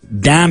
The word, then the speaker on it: damn: Damn it. Damn it. And damn is spelled D-A-M-N.